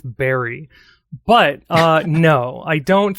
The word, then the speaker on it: Berri: Well, her name does rhyme with Barry, but uh no, I don't think so.